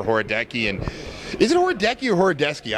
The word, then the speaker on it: Horodecki: and is it oradecu horodeski I always screwed up I want to know the right way to say it whatever you want to call it in Polish it's horodeski so all right so